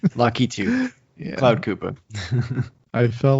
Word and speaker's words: Lakitu: sure he's more complex i'm actually not sure if you pronounce the key2 or like lockitu oh it's like youtube lucky too cloud koopa i feel